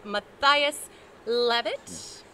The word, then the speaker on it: Mathias Leavitt: that but this is uh scott davis and matthias levitt did i pronounce that you did you nailed it i